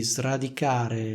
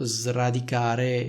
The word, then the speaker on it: sradicare: non srotolare un altro esempio potrebbe essere dovresti sradicare le cattive udini dalla tua vita Cosa significa